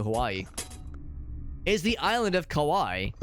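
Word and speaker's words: Kauai: up alth he says Hawaii then he says Kawai it's funny you say that because the island that Grace and I have visited when we went to Hawaii is the island of Kawai it's spelled k a u a I so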